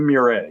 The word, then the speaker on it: Meuret: Meuret, yes.